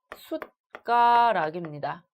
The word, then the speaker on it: 숟가락: 자, 그 다음에 숟가락의 경우에 얘도 우리가 숟가락으로 잘못 발음하는 경우가 많은데요. 얘의 경우에 디귿은 그냥 디귿 그대로 발음을 해야겠죠. 숟가락입니다.